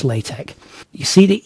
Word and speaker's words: LaTeX: a language called latc I know it looks like latex but actually it's pronounced latek you see the E